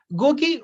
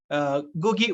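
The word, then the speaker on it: Ngũgĩ: Gugi wa Thiago, pronunciation N is silent, N G-U-G-I, N is silent.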